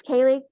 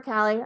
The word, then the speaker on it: Cali: your relationship yeah so my name is Kaylee or Callie I answer to both it's spelled weird um I run a